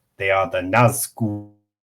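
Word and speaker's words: Nazgûl: Now, Nazgul is stuck together. Nazg and Gul. It's words. Hey. This would technically be correct. Have a double G sound, which is why they just sort of cut it. This one is on the front part, so Naz. Well, actually, sorry. It's technically Nazgul.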